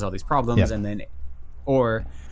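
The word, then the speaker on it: Aaor: I think it's pronounced Or. A-O-R.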